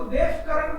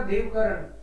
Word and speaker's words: देवकरण: मेरे को, मैं सीमेंस में था तो मेरे को देवकरण बोलने लग गए थे वो जर्मन्स, वही ये देवकरण। मैंने कहा भाई ये तो बिगाड़ देंगे नाम, तो मैंने उनको बोला देवकरण।